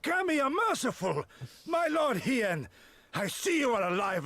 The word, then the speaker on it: Hien: He-en. He-en. N? Hien. Hien. Like Ian. Hien. Hien. Is that right? Yes. He-en is here. Oh, it's a she. Nice. Nice. The Ami are merciful! My lord Hien, I see you are alive and well.